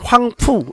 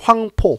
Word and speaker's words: 황포: 우리 중국 사료 같은 데서 보면 황푸 이렇게도 나옵니다. 황푸. 푸. 이건 상관없어요. 우리 이제 한자 우리 음으로 발음하면 황포 이렇게 되는 거고, 중국 발음으로 하면 황푸 이렇게 됩니다.